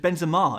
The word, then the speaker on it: Benzema: So it's Benzema.